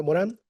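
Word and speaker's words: Morin: La segunda respuesta la vamos a encontrar en Edgar Morán, el gran Edgar Morán, lo escribí mal, es Edgar Morín, se escribe Morín, se pronuncia Morán desde el pensamiento complejo.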